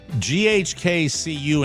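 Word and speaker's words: GHK-Cu: Also, you got to check out GHK- CU. Do I pronounce the dash? No, I don't think so. So, it's GH KCU.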